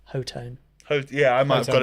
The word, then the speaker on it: Hotone: What I was so glad about that video is I now finally know how to pronounce Hotone. Yeah, I might have got it I wrong. was going Yeah. Hotone.